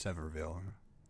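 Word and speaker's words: Sevierville: It's Severville. Severville. As far as the way it's written. Yeah. It's like Houston and H. I mean, locals say it one way, but if you look at the way it's written and try to follow uh general grammatical um guidelines, for lack of better word phrasing, uh it it should be Seville, I believe. Uh there's an uh there's an I in it, right?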